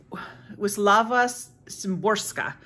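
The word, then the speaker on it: Wisława Szymborska: reading is a book of poetry which is WIS laava sorka that's how you say her name um she's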